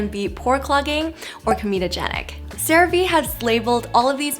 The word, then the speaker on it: CeraVe: Take those two together, ceramides and MVE, and that's how they came up with the name CeraVe. So it is pronounced CeraVe, not CeraVe.